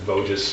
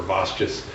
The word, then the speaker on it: Vosges: People mispronounce it as Voges or Vosges.